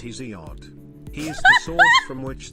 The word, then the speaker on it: Hesiod: Remember how earlier I said you should read Hesiod, pronounced Hesiod.